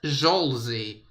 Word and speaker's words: Solzy: Solzy is pronounced as Zolzy, by the way.